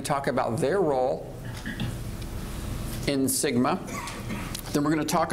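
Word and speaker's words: SGMA: sustainable groundwater management act also known as Sigma you uh you know you've come into into be real being when you are uh legislation has its own acronym and phonetic pronunciation so uh we have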